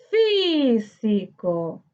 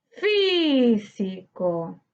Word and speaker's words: físico: Físico. Físico. Su sílaba tónica se encuentra en fi, correspondiente a la antepenúltima sílaba.